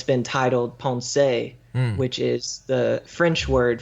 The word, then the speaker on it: Pensées: and it's been titled Pensées, which is the French word for thoughts. So published posthumously. Yeah, exactly. Okay, and in Pensée, or as the Anglo pronunciation, some people just say Pensées, there's a section there known as the wager.